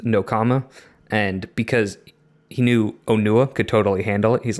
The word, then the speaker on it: Onua: So it's not Onawa, it's Onua.